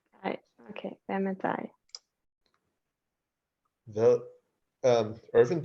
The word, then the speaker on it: hvad: Hvad? Ervin, the D is silent, right?